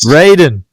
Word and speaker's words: Raiden: Raiden.